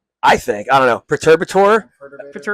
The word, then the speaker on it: Perturbator: like, uh, how do you say Perturberator? Uh, we said perturbator, but like perturbator I've heard and I don't know what's Yeah, I don't It's supposed to be perturbator.